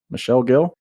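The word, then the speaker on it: Michel Gill: pronounce his name as is it Michelle or Michael Michelle Michelle Gil sure Michelle is he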